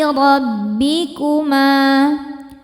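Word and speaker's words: رَبِّكُمَا: Alai rabbikuma. Ro dibaca secara tafkhim karena berharokat fathah, maka ro-nya tebal.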